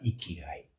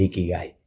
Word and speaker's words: Ikigai: Gai en la parte final es Gai, se escribe con G, ¿no? Pero viene en romanji, pero es Kai.